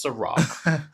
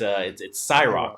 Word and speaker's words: SAROC: The next act that comes on is an artist by the name of, again, we thought it was Ciroc, but it's Cyrock. It's spelled SAROC.